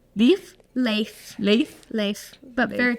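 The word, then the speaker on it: Leif: then we have uh l e i f life Leaf le le le but very close very close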